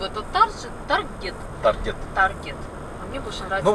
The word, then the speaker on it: Target: две недели в этот Таргет. Таргет. Таргет. Ну, в общем, по привычке из Белоруссии и по правилам как бы надо прочитать таржет. Но это слово исключение, оно читается таргет.